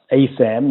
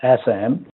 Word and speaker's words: ASAM: Just to give you the context of ASAM, which is the American Society of Addiction Medicine-- pronounced "ay-sam," not "ass-am"-- some people think it's